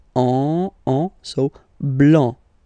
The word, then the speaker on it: blanc: Next, here, final C is not pronounced, okay? And then you get the nasal here, and it goes like en, en, so blanc, blanc, blanc, all right?